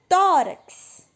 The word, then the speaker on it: tórax: Tórax. Então, o tó é a mais forte. Não é a última, é a penúltima.